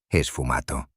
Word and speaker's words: sfumato: El esfumato, pronunciado, esfumato.